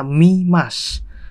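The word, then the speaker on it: 見ます: Nah yang pertama, wah ini mah gampang ini bro, ini kan bacanya mimas, artinya melihat itu bro ya. Mimas cuman minya doang, masnya hiragana bro, mimas.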